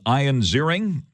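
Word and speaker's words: Ian Ziering: see that video with ion zering yep that's how he pronounced his name ion zering remember him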